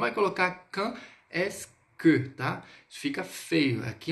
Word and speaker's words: quand est-ce que: Lembrando, esse QU, esse QU, o som do Q no francês é som de K. Então, quand est-ce que.